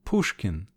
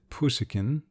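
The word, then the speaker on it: Пушкин: likeness to the italian even the names pushkin she pronounced it pushikin and glinka sounded somewhat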